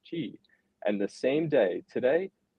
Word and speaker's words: Qi: the company was called Chi capital and if you know key like Qi is actually pronounced Chi and the same day